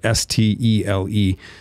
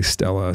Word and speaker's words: stele: But then in the late 90s, thanks be to God, they found a stele, a monument inscription, S-T-E-L-E, pronounced different ways. Some people say Stella, some people say stele.